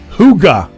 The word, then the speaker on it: Hygge: Huga.